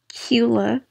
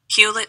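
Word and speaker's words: Hewlett: pronounce it hila I think that's how you pronounce it I don't know if like the teaser silent um hula oh wait I think the te's are silent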